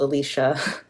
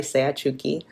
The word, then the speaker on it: Seachuki: Um sometimes I'm called Alicia, which is not my name, right? It's Seachuki.